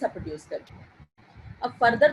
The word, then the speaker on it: coup: Type of injury is called as अ Koo injury. इस injury को क्या कहते हैं? कू इंजरी। ये टी जो है इसका साइलेंट है, और अगर ऑपोजिट साइड